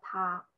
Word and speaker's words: 他: And we also have this ta. They all have the same pronunciation, ta.